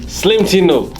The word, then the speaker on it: Slimetino: How do you pronounce it? Slimetino? It's actually Slim. Slimetino.